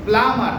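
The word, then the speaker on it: plumber: তারপরে আরেকটা শব্দ আমরা দেখতে পাচ্ছি প্লামার, কি হবে? প্লামার। এখানে বি এর উচ্চারণটা সাইলেন্ট থাকে।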